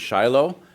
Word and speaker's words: Shiloh: Um Shilo is an ancient site. Uh you may know it as Shiloh. Um I'll probably alter be back and forth between those two pronunciations as I go, but